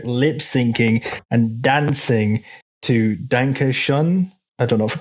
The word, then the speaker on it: Danke schön: Bueller is there lip syncing and dancing to Danke Schön. I don't know if I pronounced that right. That's German. Can't kill me. I said it wrong. Wayne Newton. I can save you. Danke schön.